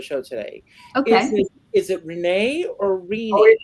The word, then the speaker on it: Renee: But I also have a friend named Renee, who pronounces it Renee. So it's Renee. It's Renee like a genie, yeah.